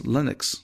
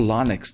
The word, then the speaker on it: Linux: then maybe try the open source Linux or Linux depending how you want to pronounce it if you can't afford